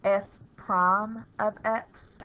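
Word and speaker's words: f′(x): in a exponent position F Prime of X is how you say it I top it out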